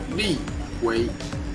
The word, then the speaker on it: 立委: and my name is lee lee way in chinese pronunciation i am the security